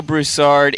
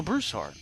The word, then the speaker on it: Broussard: yeah thank you actually when i moved out of louisiana yeah to washington state i had to learn how to pronounce my last name in a different way so that people actually understood what the heck i was saying so i had to say broussard broussard i would actually